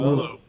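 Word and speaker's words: Meruelo: Maruello? Marullo.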